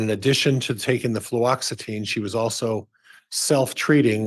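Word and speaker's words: fluoxetine: extine I have difficulty with that as well fluoxitine fluoxitine thank you yes I'll say it wrong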